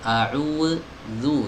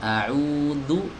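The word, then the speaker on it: أعوذ: Nah, kalau ini kesalahan ya, jadi bukan a'udzu itu mirip seperti huruf dal gitu, bukan huruf dal tapi mirip ya, bukan huruf dal, bukan berubah jadi huruf dal, bukan, tapi mirip seperti pelafalan huruf dal ya. Jadi jangan a'udzu tapi a'udzu. Nah, ada gesekan sedikit.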